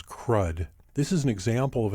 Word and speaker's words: CRUD: retrieve update and delete often pronounced as crud this is an example